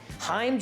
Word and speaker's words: Heim: Heim joints is how they're pronounced.